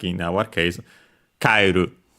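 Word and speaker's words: 帰る: And so, like in our case, kaeru on the ka.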